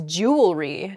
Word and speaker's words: jewelry: word is jewelry jewelry i think i'm probably guilty of this mispronunciation i can't say that word mispronunciation where the word kind of gets a little bit smushed together uh and we say jewelry instead we miss that that second e sound in there it should be jew ellery uh in